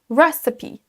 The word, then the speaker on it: recipe: Recipe, recipe. Vous avez peut-être entendu que ce mot est accentué sur la première syllabe.